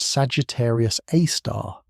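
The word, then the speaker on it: Sagittarius A*: The galactic center, while spectacular, is a violent place dominated by a super massive black hole called Sagittarius A, pronounced Sagittarius Aar, which contains the mass of about 415 million suns compressed into a region smaller than Mercury's orbit.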